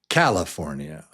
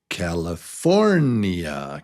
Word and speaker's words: California: But 4 is the strong one. California. California. California. It's really there. It's not California. It's California.